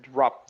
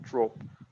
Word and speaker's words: dropped: You pronounce that dropped, not drop.